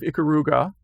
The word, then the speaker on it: Ikaruga: And huge fan of Ikaruga, or am I pronouncing that correctly?